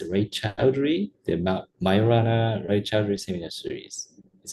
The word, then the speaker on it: Raychaudhuri: it's Raychaudhuri, the Majorana-Raychaudhuri seminar series. Is that right pronunciation?